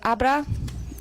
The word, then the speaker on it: Abra: it's Abra. That's how you Abra?